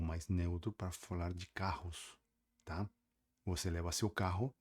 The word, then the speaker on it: carro: porque se escreve igual, só que se fala com dois Rs. E palavras com dois Rs no espanhol fala igual que palavras que comecem com R, fortes e vibrantes.